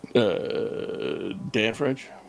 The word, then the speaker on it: Dan French: Actually, it's Dan French. You got to put the emphasis on the first name.